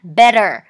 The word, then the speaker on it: better: อย่างี้ นะ อ่ะ แล้ว ถ้า เกิด American นะ better เน้น ตัว R ไม่ เน้น ตัว T นะ คะ อ่ะ อีก ที